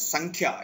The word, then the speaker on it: Sankhya: Sankhya. It is the correct pronunciation. Sanskrit pronunciation is Sankhya. In English, generally we say Sankhya. It's not Sankhya.